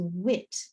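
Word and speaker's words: huit: I so the letter eight in French is wit wit that you and I gives a very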